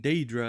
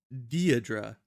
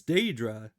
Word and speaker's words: Daedra: But anyways, like, this guy pronouncing Daedra as Deirdre, like he's trying to say the name like Deirdre or something.